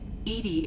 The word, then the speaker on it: EDI: airlock is a jar why are you named Edie Edie is the phonetic pronunciation of ETI that is an acronym for